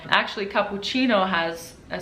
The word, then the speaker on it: cappuccino: Now, if a C is followed by an A, O, or a U, it is a k sound, like cappuccino. Actually, cappuccino has a C with